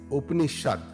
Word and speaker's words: Upanishad: It is pronounced as Upanishad, Upanishad, Vedanta.